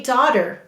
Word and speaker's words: daughter: The first syllable is da. D-ah. Do you see which ah? It's ah-af.